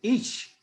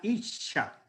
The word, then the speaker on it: ish: Esa palabra es ish. Hemos hablado otras veces de la palabra ish. Se escribe o se translitera sencillo como una I de puntico, como decimos, una S y una H.